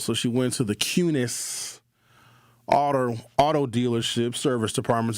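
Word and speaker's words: Kunes: To me, it looks like Coons, but they pronounce it Cunis.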